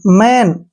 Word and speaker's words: man: HAT, हैट, MAN, मैन।